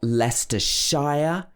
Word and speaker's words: Leicestershire: should be lester and there's a bigger region which is called leicestershire this is not leicester shire normally the places that end in s-h-i-r-e this should be pronounced sho leicestershire leicestershire and we've also got worcester